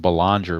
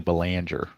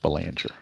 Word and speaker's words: Belanger: And I noticed in some people's videos, they pronounce him Belanger, but it's actually Belanger, the proper pronunciation. I do know that one for sure. It is pronounced Belanger. I've heard Bellinger and I've heard Belanger, but it's actually Belanger.